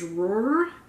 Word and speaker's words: Ruhr: occupation of the, I think it's pronounced Ruhr, R-U-H-R, by the French and Belgian troops.